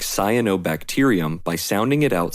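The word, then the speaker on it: cyanobacterium: The experienced reader will even automatically pronounce “t-e-r” as “tier” by making the automatic and subconscious connection to the base word bacteria.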